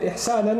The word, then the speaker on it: إِحْسَانًا: And it's mansoob, the fatha on it, إِحْسَانًا, like that, it's pronounced like that, عَلَى الْإِغْرَاء.